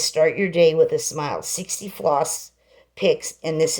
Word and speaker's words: Smyl: This is called Smile. That's the way it's spelled. SMYL.